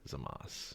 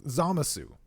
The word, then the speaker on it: Zamasu: zamas zamas yeah sure zamas it's zamas no it's not it's like zamu zasu check this out zamasu yeah they zamasu they say zamasu in the dub because they pronounce the oo sound that's like if iffy